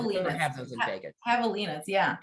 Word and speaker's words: javelina: say that javelin i have those in vegas javelinas yeah javelinas okay i saw one when i was there